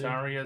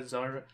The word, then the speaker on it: Zarya: So, did I say Zarya? Zyra. I think it's actually pronounced Zarya. I thought it's pronounced Zyra in Russian.